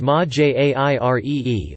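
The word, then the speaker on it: Majere: Mahire, pronounced Ma-Jairee, also known as Mantis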